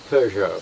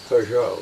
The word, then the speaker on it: Peugeot: Peugeot. Peugeot? The French pronounce it Peugeot.